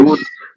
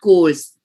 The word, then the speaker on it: chores: chores, not course, chores. chores. Sure, ma'am. Ch, ch sound. Hindi mein we say chorna, that ch.